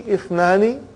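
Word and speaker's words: اثنان: That Ithnani, the Hamza is Hamzatul Wasal. If it comes in the beginning, it is pronounced. If it doesn't come in the beginning, then it is assimilated.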